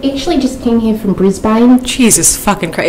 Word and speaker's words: Brisbane: I actually just came here from Brisbane. Jesus fucking Christ. It's Brisbane. Real Aussie would pronounce it Brisbane.